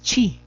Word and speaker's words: chi: cuadrado en castellano no este carácter que se parece una X en latín es chi no y en el Castellano es J ji algunos otros le escriben